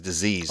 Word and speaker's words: diseased: Ten cuidado con la pronunciación. Mm-hmm. Diseased está repleto de enfermedades. She's diseased. Oh, right. Diseased. Right. Okay. All right. Deceased. So you need to be una pura S. Sonido S en ambos sitios.